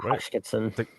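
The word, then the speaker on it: Hoskinson: Here's the clip of Charles uh was it Hotchkens. Hot how do you say his name? Charles Hodkinson.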